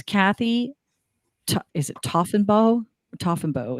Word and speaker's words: Taughinbaugh: Toffenbow is, I believe, how it's pronounced.